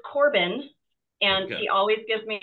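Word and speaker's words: Corbon: of Bowen and Brock's names awesome but it's pronounced Corbin so c o r b o n wow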